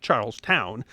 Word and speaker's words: Charleston: In May of 1718, he held the Port of Charleston, then pronounced Charles Town, South Carolina, hostage.